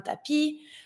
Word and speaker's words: tapis: We don't pronounce the S, un tapis.